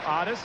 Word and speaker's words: Otis: balls and two strikes Otis Nixon is known as Otis Nixon in his hometown of evergreen North Carolina that is the way his father's name is pronounced his parents oddest and Gracie no doubt